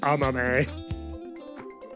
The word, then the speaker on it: Amame: Well, I just pronounced it more in the traditional Japanese way. Amame.